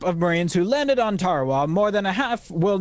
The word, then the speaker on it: Tarawa: Ladies and gentlemen, there's a tiny island in the mid-Pacific called Tarawa. That pronunciation, incidentally, is from the National Geographic Society.